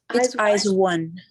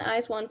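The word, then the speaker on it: IZ*ONE: say it both ways i think it's eyes eyes one eyes one okay thank you before their debut a petition was put in place by the korean public to ban eyes one from performing on kbs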